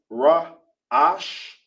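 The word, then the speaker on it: ראש: In Hebrew, it's pronounced Ra Ash.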